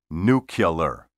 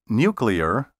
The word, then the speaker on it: nuclear: word nuclear don't say New Killer think of nuclear as a combination of new or new and clear say nuclear or nuclear I'm going